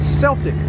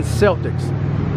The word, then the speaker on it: Celtic: And for a long time, when I first seen the sign, I used to think it was called Celtic Creamery, like the Boston Celtics. But no, it's pronounced Celtic Creamery, I was told.